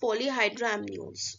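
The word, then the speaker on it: polyhydramnios: we have poly hydrino uh basically it's uh pronounced as polyhydramnion okay so the corresponding sub quote will be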